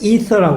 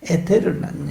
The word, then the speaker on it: ether: 그건 이제 서양에서의 발음이고요. 독일식 발음이고 영어로는 ether라고 그럽니다. E-T-H-E-R. 그래서 처음에 미국 가서 ether라고 그래서 저게 무슨 사람 이름인가 그랬는데 에테르라는 얘기죠.